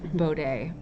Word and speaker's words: Bode: bode it's actually called it's actually pronounced bow day i i learned that